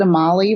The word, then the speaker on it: Amalie: We pronounce it Amalie, rhymes with tamale, so if that helps.